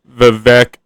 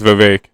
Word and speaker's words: Vivek: Brown let's talk about vivec ramaswamy or is it Vivek I think it's Vivek it rhymes with cake now he's a presidential